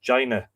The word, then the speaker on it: Demne: Is that before he was called Finn, his name was Jevne, or I think apparently it's pronounced Jaina in modern Irish, Demne.